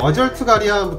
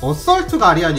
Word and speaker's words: 어썰트 가리안: 되었습니다 컬러와 쪽을 보면 어트 가리안 나오는데 원래 정확한 발음은 어썰트 가리안 이겠죠 그 당시에 아트 가리안이라는